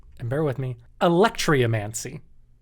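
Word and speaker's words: alectryomancy: and bear with me electria mancy it's not spelled like electricity it's spelled a l e c t r y o m a n c y electromancy now this was a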